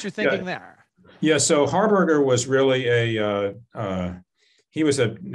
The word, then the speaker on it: Harberger: Am I pronouncing that correctly? Harberger, yeah.